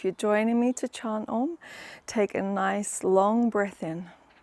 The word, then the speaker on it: Om: to why we chant om um and if you'd like to join me we're going to chant in three syllables today a so meet me at